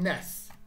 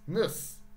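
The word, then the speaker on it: -ness: like politician what about ness going down here not nes niss even i make mistakes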